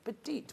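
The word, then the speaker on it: Pertiet: That's how you said spell it, but it's said Petite, which is lovely, the most darling name.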